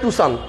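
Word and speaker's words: Tucson: টাকসন গাড়িতে দেখেন কেউ বলে টুসান, কেউ বলে টুকসান, কেউ টাকসন, ওটার নাম হচ্ছে টুসান, মূল অরিজিনাল শব্দ।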